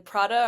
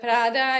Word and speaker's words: Prada: How do you say it? Prada. Prada. No Okay. Prada. No Prada. Prada. I can roll my R's, but it sounds so pretentious to say Prada.